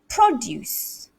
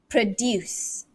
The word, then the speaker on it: produce: stress here all right the fourth word is if it's a noun it's produce okay produce okay so it's pro here but if it's a verb it's produce produce so produce and produce produce so work on that one guys if that is difficult for you work on this work on this especially when we're talking about a noun and a verb it's got the same spelling but the stress is different so there are many